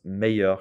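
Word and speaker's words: meilleur: make sure you pronounce meyer correctly notice i do not say an l sound it's a y sound girl and practice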